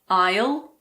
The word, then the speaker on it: aisle: Unfortunately, there aren't really any rules here, but luckily there aren't that many words that have a silent S. Some of the most common ones are aisle, bourgeois, debris, island, and aisle.